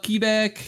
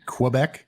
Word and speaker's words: Quebec: Quebec. It's like there's a W after a K. My Quebec. grandmother's Whoa. from Quebec. Okay, but, Quebec.